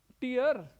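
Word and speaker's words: tear: आगे की वर्ब देखिए बताइए प्रोनाउंसिएशन टियर टियर भाई ये टियर नहीं है ये टियर है टयर यह वर्ब है वर्ब टियर नहीं टयर टय ट ट इसके अर्थ दो होते हैं।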